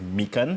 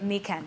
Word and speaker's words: Mekan: uh it's pronounced as mikan mekan which is just a combination of two words that's me and khan meaning that you can